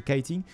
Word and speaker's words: kiting: que keating on tombe on prononce keating à la française mais c'est kiting le kite en fait